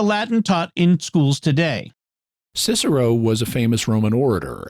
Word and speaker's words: Cicero: In fact, even the name Cicero sometimes gets pronounced Kikero and things like that.